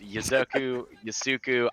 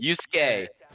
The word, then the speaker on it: Yusuke: Yasuku, I will always mispronounce your name. Yusuke. I will always mispronounce your name, even though CDAPS just told me it. I'm gonna still say Yasoku, Yeksaku, or some random stuff like that, but it's Yusuke.